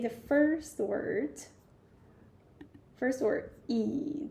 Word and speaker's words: 椅: So when you start the third tone, yeah, you start somewhere which is low and go even lower, and then you go higher, something like this. That is the way of third tone. So you say 椅 like this, okay? Not 一.